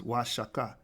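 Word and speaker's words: Oaxaca: could pronounce these names so o in the Spanish cadis is pronounced y the X in the Spanish cadis is pronounced sha the correct pronunciation of wasaka is wasaka denoting wages or higher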